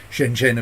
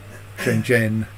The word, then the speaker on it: Shenzhen: Shenzhen. I'm not sure it's actually that second consonant is voiced, but Shenzhen.